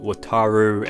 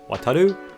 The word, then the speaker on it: Wataru: journalists struggling to say his name is not wataru Endo uh it's Japanese is a weird combination between Lou and Rue wataru our very own